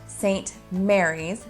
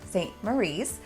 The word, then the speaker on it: St Maries: don't miss a video St Mary's is pronounced St Mary's not St Marie and this is a